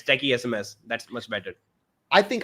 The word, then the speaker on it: Techiesms: And I was calling you techisms when I think when I first mostly like many people like misspell it techism techms or or techism there are a lot of pronunciation but yeah it's techie SMS that's much better.